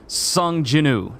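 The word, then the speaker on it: Sung Jinwoo: game will literally just s jinu so I keep saying Sun Jin Wu because that's such a basic way to say it but everyone pronounces it s jinu uh but a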